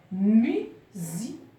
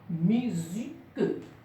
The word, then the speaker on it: musique: Musique. Mu. Au début du mot, on entend mu. Donc, c'est le son U. Et non pas le son A. Musique.